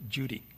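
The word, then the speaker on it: Cudi: u d i but the C in Turkish is pronounced with a J sound so we call it Judy okay and this is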